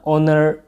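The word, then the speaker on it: honor: Word meaning with the silent H. एन ऑनर होता है ना, ऑनर, ठीक है, एच में एन।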